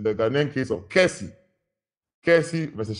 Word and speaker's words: Kessie: It's the Ghanaian case of Kessie versus Sharman. Kessie is spelled K-E-S-S-I-E versus Sharman.